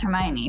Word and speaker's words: Hermione: And I'm like, oh, so like I didn't know Hermione's name was pronounced Hermione for like until the movie came out, and I was like, oh.